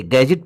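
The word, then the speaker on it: gadget: उसको सिल्वर बोलते हैं जैसे गैजेट देखिए इसमें जी के पहले दी है तो दी साइलेंट हो गया इसलिए इसे गैजेट पद रहे हैं बैजर पद रहे हैं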